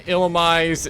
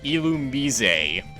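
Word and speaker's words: Illumise: wheel on illumi and yes that's how you pronounce that uh pokemon's name it's not illimis it's not it'll miss it's not either of those it's illumi i was expecting you to do a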